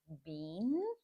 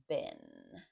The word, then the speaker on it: been: So, you might read this as will have been. And that's okay. We call that strong pronunciation, but it is better to say been, like garbage bin.